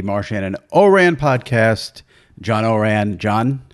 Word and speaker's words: Ourand: and Oran podcast John Oran John how are you Jimmy thanks for pronouncing my name correctly I appreciate that yes